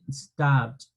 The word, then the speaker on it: stopped: Eso indica que el pasado yo lo voy a pronunciar sin la E. ¿De acuerdo? Y con el sonido de una T final.